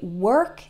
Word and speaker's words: work: and world is they are spelled with an O but it doesn't really sound like an O that o R has an O sound same as in the word bird or heard that's the past tense